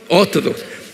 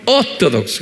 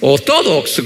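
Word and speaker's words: Orthodox: 오토독스 한번 발음해 보세요. 오토독스. 액센트가 있어요. 오토독스. 그래야 돼. 예. 오토독스.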